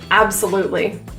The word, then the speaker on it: absolutely: Absolutely. The T in this word turns to a glottal T.